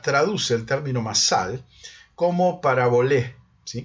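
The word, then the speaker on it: παραβολή: Pero lo cierto es que la versión de los 70 traduce el término masal como parabolé, ¿sí? Con acento en la E, parabolé, y con E final.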